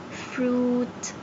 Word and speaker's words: fruit: Fruit. Fruit. Don't forget, friend I is silent.